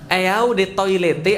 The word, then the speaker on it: Eau de Toilette: Eau de Toilette artinya adalah eau de toilet bacanya.